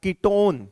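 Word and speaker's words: ketone: कीटोन बोलते हैं। इसको क्या बोलते हैं? कीटोन। अब ये देखो, हमने पीछे इसके प्रोनाउंसिएशन क्या यूज किया? कीटोन। क्या बोल दिया? कीटोन। ओन बोलना है।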